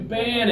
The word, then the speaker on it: ban: cell phones are ban that one's not Bond it's ban with the two fingers ah ah man good